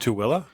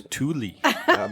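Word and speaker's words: Tooele: I'm calling It's pronounced Tilla. I thought it was Tuli.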